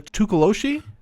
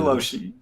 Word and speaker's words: Tokoloshe: Let's talk about the Tokoloshe. Tokoloshe's. That's how it's traditionally pronounced. And if you pronounce it any other way, I'm sorry, you probably don't know a lot about goblins. Yeah. Let's get into Tokoloshe.